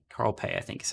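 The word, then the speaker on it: Carl Pei: His name is Carl Pay. Carl Pay, I think is how you say it.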